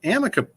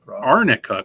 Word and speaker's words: arnica: real i don't know this is arnica cream i think that's what she was mispronouncing is pronouncing it sometimes the lower keys are looks like an n looks like an app yeah so she was just mispronouncing it the whole time probably that's awesome this